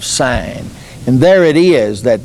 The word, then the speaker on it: Sin: the Wilderness of s it's spelled SI i n as if it were sin but it's literally the Wilderness of sin and there it is